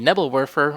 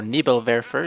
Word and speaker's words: Nebelwerfer: vermo side another unit is the nebble warer or Neal verer if you prefer the more German pronunciation although I'm not going to say I'm pronouncing it like a German not even close I'm sure but uh the nibble